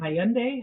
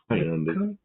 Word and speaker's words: Hyundai: Yeah, it rhymes with Sunday. But a lot of people say Hyundai, Yandee, Hyundee.